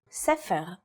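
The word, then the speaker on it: ספר: In the word for book, or sefer, it's pronounced with a f sound.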